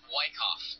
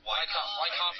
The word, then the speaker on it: Wyckoff: How do you say it? Wyckoff. Wyckoff, and you can sneeze.